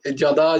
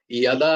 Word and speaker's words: যদা: 3-4 দিন বললে, আহ, এখনো যদা যদাই আসছে, ইয়াদা ইয়াদা শুনতে পাচ্ছি না। তো জয়ের উচ্চারণটা ইয়া হয়, যদিও এটা এখনই বলছি না, মানে এগুলো করতে পারলে ভালো।